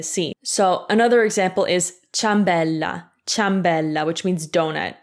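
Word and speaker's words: ciambella: so another example is chambella chambella which means donut it's not chia ambella no we just say anyway these rules are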